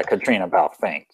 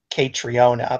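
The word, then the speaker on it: Caitríona Balfe: Katrina Balfe is, I think, how you pronounce her name. Oh, yeah, Katrina Balfe.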